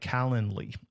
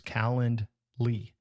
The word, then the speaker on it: Calendly: Then you can set up a tool like Calendly. It's like calendar, but not calendar. It's Calendly. And so do a search for Calendly, Calendly.